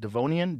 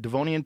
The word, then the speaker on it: Devonian: until the Devone how do you say that devonian devonian period some 360 million years ago you might